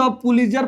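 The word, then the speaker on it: Pulitzer: Odean won द पुलित्जर प्राइज इन 1948, याद रखिएगा सर।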